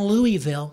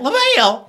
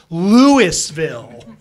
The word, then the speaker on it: Louisville: I go, how the hell do you get LaVille out of this Louisville? How do you get that out of there? And plus, I'm giving you a little bit of slack here. It should be pronounced Louisville, not Louisville.